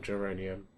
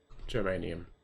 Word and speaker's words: germanium: So I need carbon, vanadium, geranium, or well, to be honest with you, I probably need carbon, geranium, arsenic, niobium, yttrium, polonium. I know I'm saying geranium wrong. I'm saying it wrong. Germanium.